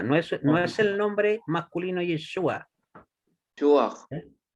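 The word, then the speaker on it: ישועה: No, no, dice Yeshua, no es el nombre masculino Yeshua. ¿Eh? Es Yeshua, con acentuación en la última sílaba.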